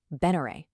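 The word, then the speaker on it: Benere: It's not spelled v e n e r e. It's spelled b e n e r e. Beneray.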